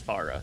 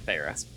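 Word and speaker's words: Pharah: People pronounce it both ways. It's Farra, not Farah.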